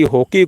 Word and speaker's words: hoquet: Next question की तरफ बढ़ेंगे, और नेक्स्ट क्वेश्चन में पूछा गया है कि हॉकी को फ्रांस में क्या कहते हैं।